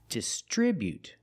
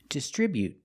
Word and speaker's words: distribute: Putting the stress on the second syllable. Distribute. We see the BU together, making the sound bu. Not boo, but bu. Distribute. Distribute. With the T at the end, after the vowel, you can make a stop T sound. Distribute. You don't have to release the T. You can say distribute, but you don't have to. You can make a stop T and say distribute.